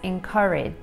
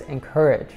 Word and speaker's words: encourage: In the UK, we say this as encourage. And in the US, we say it as encourage. The difference is in the vowel sound.